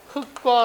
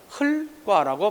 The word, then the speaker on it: 흙과: 그대로 갈 겁니다 따라서 이 경우는 흙과 라고 발음해야 된다더라 보러 간다 흙과 자칫 잘못해서 리얼 기억 다음에 기억이 왔다고 해서 흘 과라고 바라보면 틀리게 된다 체형과 조사에 환경에서는 리얼